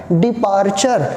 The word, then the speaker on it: departure: तो कभी भी टी के बाद यू आता है तो च उच्चारण हो जाता है। तो ये इसको प्रोनाउंसिएशन करना है डिपार्चर, मीन्स रवाना होना।